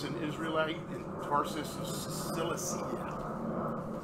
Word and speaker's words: Cilicia: So Paul is the author of 13 New Testament epistles, was born as an Israelite in Tarsus of Cilicia. Cilicia, there you go, that's how you say it.